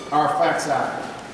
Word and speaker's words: Arphaxad: This was our father Shem's son, Arphaxad, is how his name's pronounced here.